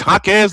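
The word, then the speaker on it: Jaquez: I've been saying her name wrong for the last two years, and I apologize for that. It's Hakez Ledger Walker along with Kiki Rice, Giana Neepkins,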